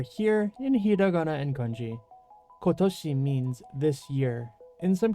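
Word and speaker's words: 今年: word of the day with puppy s is kotoshi you should see it over here in Hiag and Ki kotoshi means this year in some cases you might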